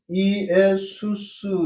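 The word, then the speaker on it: Ἰησοῦς: 그럼 이걸 어떻게 발음을 하냐면 이것은 이의수 이렇게 발음을 하고 이것은 이에수 이렇게 발음을 하고 이것은 이에순이라고 발음을 해요.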